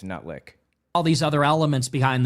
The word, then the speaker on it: Lutnick: You're getting all I think it's pronounced Lutnick, actually. Not Letnick. It's Lutnick.